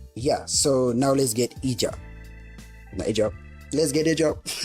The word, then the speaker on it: Ejob: Is it Ejob? Because Westerners call it Ejob. And me and him say Ejob. Me like Cameroonian, that's how I pronounce Ejob. But when I see Westerners and white guys call it, they call it Ejob.